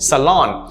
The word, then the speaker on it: salon: done to it right salon notice there are only two syllables there is no long all their salon a place where you